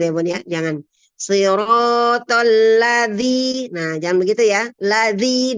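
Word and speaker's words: الذي: Zal ini adalah huruf lembut ya. Zal bukan huruf seperti dal. Kalau dal dia hurufnya huruf kuat ya. Jadi dia dibacanya menghentak. Tapi kalau zal adalah huruf lembut, maka kita lembutkan ya. Zalnya tidak dihentak, tidak dengan tekanan ya.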